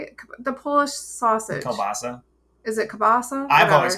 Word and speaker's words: kielbasa: My daughters like pierogies and kibasi, but I hate kibasi. Kibasi? Kibasi. Kibasi on the barbie. Isn't that how you say it? The Polish sausage. Kielbasa.